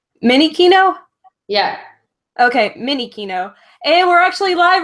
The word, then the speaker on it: Minichino: pronounce my last name. It's Minichino. Minichino? Yeah. Okay, Minichino. And we're actually live right now. So it's Geek to Geek number 16. And today I have Minichino here.